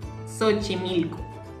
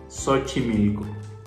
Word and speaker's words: Xochimilco: La siguiente es parecida a la de Xochitl, pero este es un lugar en Ciudad de México que se llama Xochimilco. Xochimilco. Es parecido, la misma pronunciación.